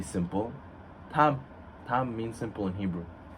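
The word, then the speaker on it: תם: Tam. Tam means simple in Hebrew. T-A-M? Yes. And what do we mean when we say Tam, simple person? We know Yaakov, he was Ish Tam Yoshev Oalim, the pasuk says.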